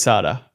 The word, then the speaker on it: Sarah: So it's spelled Sarah, but it's Sada. Yes. Yeah, okay. There we go. I was confused. So roll the R in Spanish.